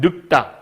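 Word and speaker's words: 늙다: 얘 발음하면 늑다에서 온 말이야. 그럼 늑다. 우리가 이렇게 발음하거든요. 자, 늑 어디 있어요? 요 기역으로 발음한 거야. 뒷소리로.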